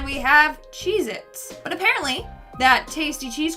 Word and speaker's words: Cheez-It: number 9 we have cheez-its but apparently that tasty cheese cracker is not called cheez-its it's cheez-it either i've been saying